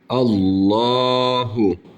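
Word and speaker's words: الله: anlatacağız Evet bir kelimemiz Allahu buradaki lafzatullahın lamı uzatarak okunuyor ve kalın bir şekilde okunur Çünkü kendisinden önce harfin harekesi üstün olduğu için kalın bir şekilde okuyoruz ve aynı zamanda bir elif miktarı uzatıyoruz Allahu Allahu Bu arada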